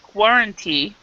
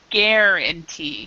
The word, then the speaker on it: guarantee: pronunciation for this word instead of Guaranty we we actually pronounce this guarantee ah guarantee so this U is actually silent um guarantee and this is like awah guarantee so guarantee guarant okay